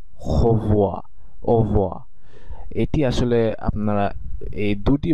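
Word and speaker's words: au revoir: একই সাথে উচ্চারণ করে, একই সাথে উচ্চারণ করলে এটির উচ্চারণ হয় ও ভোয়া ও ও ভোয়া। মানে আপনি যদি খুবই মনোযোগ সহকারে তাদের উচ্চারণগুলো দেখেন ও হো ভোয়া, এটিকে এই একটা আরো আরো মানে আরো সফট হয়ে যায় উচ্চারণের ক্ষেত্রে, একটি বলতে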